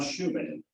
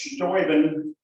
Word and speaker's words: Steuben: And I got to thinking, well, what do we know about von Steuben? Except it's hard to pronounce. Actually, it's Steuben, but they've anglicized it to Steuben.